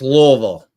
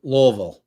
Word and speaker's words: Louisville: been there a bunch of times but it's Lille L Lille that's how you pronounce it otherwise they'll give you the business